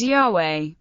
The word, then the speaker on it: Yahweh: most widely accepted pronunciation of the tetragrammaton is Yahweh Denis broadest suggested the pronunciation job based on Theodore raised assertion that